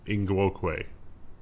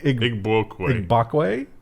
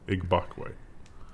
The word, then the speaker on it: Igbokwe: Christognagus Ingwokwe. You really didn't get the last one, but Igbokwe. Igbokwe.